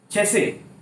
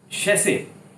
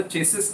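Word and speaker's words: chassis: चैसे और शैसे, चैसे और शैसे। मैं इसकी गलत प्रोनाउंसिएशन, जो अक्सर चेसिस नंबर बोलते हैं, गाड़ी का चेसिस number, no, चैसे number, शैसे number, चैसे।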